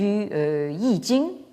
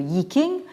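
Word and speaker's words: 易經: Mais comme vous le savez peut-être, Wilhelm est surtout connu pour sa traduction du Yi Jing, ou comme on prononce ici le Yi King, ou le livre des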